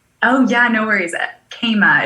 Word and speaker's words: Kama: Yeah, I was going to say Kama, but I don't know. So Kema. Okay, great. It makes perfect sense. Yep, Kema. Yeah. My parents just got creative with the pronunciation.